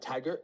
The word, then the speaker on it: Tagir: It's Tagir. Tiger?